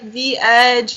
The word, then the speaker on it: Veg: do you pronounce it Veg Racing? Yeah, well, it's kind of a play on words. So I say like V-Edge, or some people say Veg Racing. It doesn't really matter. I've had that website for like 2 years about.